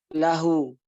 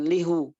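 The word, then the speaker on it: له: Kalau kemasukan domir, baik domir huwa atau hiya, ini domir hiya ini, laha bacanya. Kalau domir huwa, lahu, bukan lihu. Kok bisa begitu, Ustaz? Ya memang begitu, ya, kaidahnya. Bukannya lihu, liha, lika, laka, bukan lika. Laki, ya, lakum, ya, lakunna, seperti itu.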